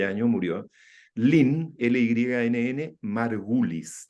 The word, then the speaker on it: Margulis: años murió, Lynn, L-Y-N-N, Margulis, tal como se pronuncia, con I latina, Margulis, majestuosa microbióloga.